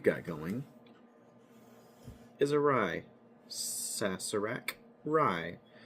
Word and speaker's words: Sazerac: Sassur rye. And is sassarak. I know some of you will see the Z there. That is not the correct cron correct pronunciation.